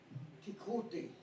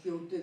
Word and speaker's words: Quixote: What is the Spanish pronunciation? Quixote. Quixote.